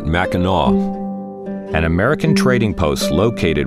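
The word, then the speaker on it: Mackinac: 17th surprise raid in capture of fork maak now pronounced Fort maau an American Trading Post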